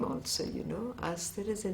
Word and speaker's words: Aster: Then she said, but I'm giving it to you as a French name, which is Aster. And she made me pronounce it after her because I didn't know the pronunciation.